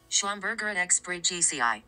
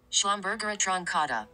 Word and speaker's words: Schlumbergera: Using my pronunciation app on my iPhone, here is how you pronounce the botanical names of these plants. The Christmas cactus, or the Schlumbergera bridgesii. The Thanksgiving cactus, or the Schlumbergera truncata.